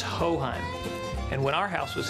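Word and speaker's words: Hochheim: texans who don't know how to pronounce our name but the generations of texans who have depended on hohein for their home farm auto or commercial coverage will never forget it it's ho-hum and when our house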